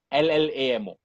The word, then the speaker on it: llamo: more in the name ll a.m. oh so it's pronounced us llamo so P was a